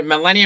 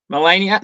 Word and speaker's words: Marlaina: Today we're being joined by Marlaina from the Collegians Football Club. Marlaina, thanks for coming on. Probably butchered your name, but thanks for coming on.